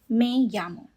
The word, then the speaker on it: me llamo: Now, the in this word, m e is not me in Spanish. E always makes the sound A. So, it is may. M E may. And the double L makes the sound ya. Like Y in Spanish. So, you pronounce as me llamo.